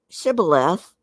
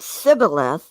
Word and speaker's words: shibboleth: they said all right say shibulus if he said shibboleth because if he said sybil sorry because he could not pronounce the word correctly they seized him and